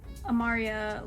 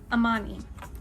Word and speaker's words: Amani: um so far I love to Mid uh Amaria left him was not okay but so far